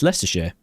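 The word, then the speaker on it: Leicestershire: then and then the county it's in is less share.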